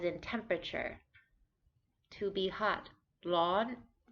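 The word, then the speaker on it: ร้อน: temperature to be hot lawn this is a high tone it gets a little bit higher than it begins but it's just high the whole time lawn this is also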